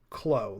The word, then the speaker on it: Clow: says the clow or the clo is apparently how it's actually supposed to be pronounced. I've said clow Really? for That's years. right. I've said clow for years because that's how Card Captors pronounces it. But in Japanese, it's actually klo, like kuro. It's kuro card. Uh, so it's supposed to be like klo, like glow, blow.